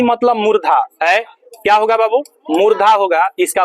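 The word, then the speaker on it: मूर्धा: मुर्धा क्या होगा बाब मुर्धा होगा इसका उच्चारण स्न मुर्धन वर्ण है और इसका उच्चारण स्थान मुर्धा होता है मुर्धा मुर्दा याद मत रखिएगा मुर्दा और मुर्धा में अंतर होता है होता है ना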